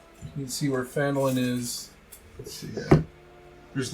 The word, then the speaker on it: Phandalin: I've heard there's like YouTube videos on how it's pronounced. We're gonna call it Phandalin.